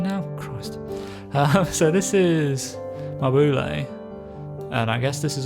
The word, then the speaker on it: Mabule: So I've called it that because I feel like it seems most similar to the Japanese, the katakana reading of it, but you know, people